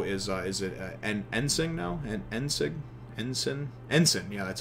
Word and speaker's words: Ensign: Ensign, yeah, that's how it's pronounced.